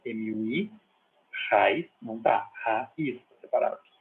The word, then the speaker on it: raiz: Tipo raiz em português. Raiz. Raiz é acentuada porque tem o hiato ali, né? Ra, o A está numa sílaba, e o I está na outra. Tem ocasiões em que muito